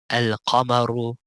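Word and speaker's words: القمر: That whenever they have an alif lam before these letters that we just described, they will always pronounce alif lam. For example, al-abu, al-babu, al-jannatu, al-himaru, al-khubzu, al-ainu, al-ghada'u, al-famu, al-qamaru, الكلب الماء الولد الهواء اليد.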